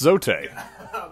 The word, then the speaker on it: Zote: these are our favorite precepts of prince zote actually it's pronounced zoe technically his full title is invincible fearless mysterious